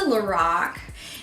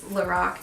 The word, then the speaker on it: Lorac: I called you know cuz lorac is karol backwards and that's the of a woman that founded the brand um and when you don't hear anything said you know sometimes you know how to say it so like until like last year I swear I said lorac because lor a lor a see that's what kind of looks like lorac right so I went